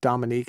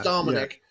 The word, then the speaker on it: Dominic: minute tracy is asking is there a reason i call him dominique instead of dominic yeah it's because it's i probably say it wrong trace that's probably the reason why there's there's no yeah you do actually it's dominic yeah sorry i jesus